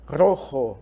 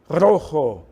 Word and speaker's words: rojo: vermelho na língua espanhola justamente essa palavrinha aqui Rojo Olha a pronúncia Rojo professor e o bege a cor eu não